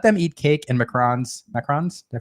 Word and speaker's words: macarons: It's like an American thing to say macaroons. They're Yeah. not macaroons. They're macarons.